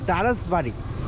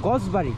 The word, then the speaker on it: দারাসবাড়ি: আবার চলে আসলাম তো এখানকার অ্যাকচুয়াল যে নামটা সেটা হচ্ছে দারাসবাড়ি তো আর এখানকার লোকজন যেটা উচ্চারণ করে সেটা হচ্ছে গসবাড়ি এই টাইপের উচ্চারণ করে তো আমি আরেকজনকে জিজ্ঞেস